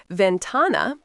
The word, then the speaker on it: ventana: Ventana, phát âm là ven-TAH-nah, nghĩa là cửa sổ.